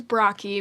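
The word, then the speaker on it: Brocchi: name my last name is brocky which is spelled b-r-o-c-c-h-i uh so most people cannot sound it out um you'd be surprised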